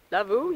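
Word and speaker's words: lavvu: But Kevin, he's been so kind, so he put up his lavoo, yes, okay, I pronounced it right.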